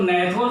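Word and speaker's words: gnathos: अर्थात तो जो नेथोज होती है इसमें जी साइलेंट रहता है, और इनको हम क्या कह रहे होते हैं?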